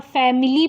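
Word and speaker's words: family: फैमिली, यहाँ फैमिली पढ़ते हैं बहुत लोग, यहाँ पे आई का साउंड अ होगा, फैमिली।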